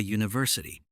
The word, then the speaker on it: university: A book, a university, a European city. The word university begins with the letter U, but the sound is like the consonant Y.